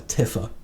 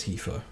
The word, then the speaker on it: Tifa: in the day like i used to just call a tiffer so yeah uh but it seems to be pronounced tifa right next up here